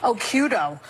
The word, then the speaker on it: Occhiuto: I had mine because my original Italian-American name was too hard to pronounce. Occhiuto.